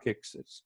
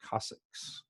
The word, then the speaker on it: coccyx: sacrum and then the Cossacks or if you're Napoleon Dynamite fan uncle Rico says grandma broke her coccyx it's not exits Cossacks with AZ like it has exercises it that is the Cossacks you will hear all